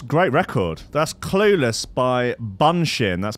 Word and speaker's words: Bunshin: that's great record that's clueless by bunshin that's bunching spelt with to use Buu n sh I n